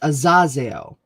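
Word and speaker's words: Azozeo: Azazeo, pronounced Azazeo.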